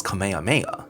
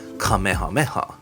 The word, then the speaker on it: Kamehameha: I can't remember which character said it, but somebody pronounced Kamehameha as Kamehameha. If you said Kamehameha in school, you'd actually get yelled at because you have to pronounce it as Kamehameha.